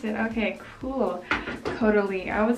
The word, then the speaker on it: Caudalie: That's how you pronounce it. Okay, cool. Caudalie. I would say Caudale. This is a Caudalie.